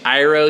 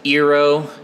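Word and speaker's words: Iroh: Saka to Soca and he changed iro to iro he also pronounces uh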